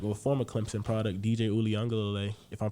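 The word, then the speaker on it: Uiagalelei: former Clemson product, DJ Uliungalele, if I'm pronouncing his name right. Dude, you know what's funny? That was actually really good pronunciation.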